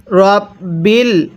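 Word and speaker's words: رَبِّ: এরপরে র বাবা বা জবর রব বালামজের বিল রব্বিল।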